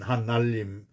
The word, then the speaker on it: 하날림: 오늘 두 번째, 그래서 이 하나님이나 하느님은 하날림에서 나왔는데 아래야 이게 이 니을이 떨어져요. 발음이 어려워. 하날림. 근데 이 언어의 경제성 있잖아요. 우리가 이렇게 정원에 이렇게 길이 삥 돌아가게 되면은 거기가 잔디가 있으면 사람들이 꼭 이거를 가로질러 가요. 직선으로. 경제성 때문에 이 에너지를 아끼려고. 언어도 똑같죠. 그래서 하날림 이게 정확히는 한데 사람들이 니를 떨어뜨려서 하나님이 되는 거죠.